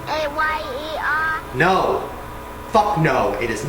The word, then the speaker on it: Mayer: It's M-A-Y-E-R. No. Fuck no. It is not A. You know what M-A-Y-E-R Oscar is? Mayer?